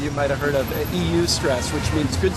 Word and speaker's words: eustress: Some of you might have heard of EU stress, which means good stress. You know, and we're probably actually adapted. What's that? Oistress. Oistress. Yeah. Well, that would probably be the more correct pronunciation, right? in Greek.